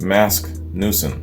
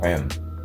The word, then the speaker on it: Magnusson: Steve, John Paul Jones, and Mask Newson on drums. That's the guy's name. Masgnuusson. Mask Newson. I think the G is silent here.